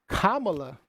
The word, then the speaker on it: Kamala: But Kamala, did I say it right?